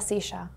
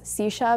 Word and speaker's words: silla: And the last word I pronounce silla because I'm from Argentina, but I think the rest of the Spanish would say silla, parece de la silla.